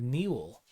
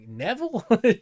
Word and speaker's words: Neville: And I was like, Neville? She didn't know how to pronounce Neville. She thought it was like a weird pronunciation because I guess she wasn't familiar with like the ILLE.